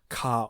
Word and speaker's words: ヶ: Note despite it can be written with a small ka or ke it's pronounced ka.